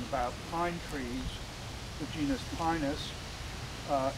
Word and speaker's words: pinus: pine trees the genus pinus uh In classical Latin pronunciation the long i becomes long he and then how can